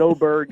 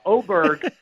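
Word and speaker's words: Åberg: a soccer player did oberg his name is I guess in Sweden really pronounced Oar and there's some weird sound you make at the end of the name and I was walking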